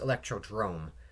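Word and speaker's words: Electrodrome: Wii U courses I mean you're inside it's pronounced electrod Drome but whatever you're inside this thing and there's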